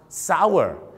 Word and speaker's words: sour: คำ ว่า เปรี้ยว ครับ S ur ก็ ต้อง ออก เสียง ว่า sour ไม่ ใช่ Sound นะ sour นะ ฮะ เห็น เช่ ครับ ถ้า